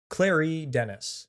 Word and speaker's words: Claire Denis: Doing my best to pronounce that, by Claire Denis. Clary Denis. That's exactly how you're supposed to pronounce that.